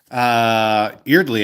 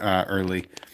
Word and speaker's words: Eardley: Eardley, I believe, is how it's pronounced, actually, not Early.